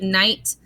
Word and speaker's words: night: Sometimes we just want to write night like this. We want to say n, I, t. But if I say this, it says knit. So IGH says I, like a long I sound.